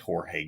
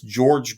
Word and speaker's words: Jorge: people like Ruth Benedict Jorge Garcia excuse me uh that's George Garcia uh it's uh spelled with a J but he pronounces it George yeah I got to